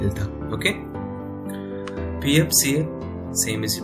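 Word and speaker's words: 잃다: Okay, and another one is real हियत के साथ हमने फिर से रियल ही हम इसमें प्रोनाउंस करेंगे। ओके, और यहाँ पे वर्ड क्या है, इल्था।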